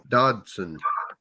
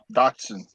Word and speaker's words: Dodson: I said it wrong. It's Blake Dodson. Dotson. D-O-D-S-O-N. Yeah, That's sad when this frog catches a bigger fish than Lee Evans, ain't it?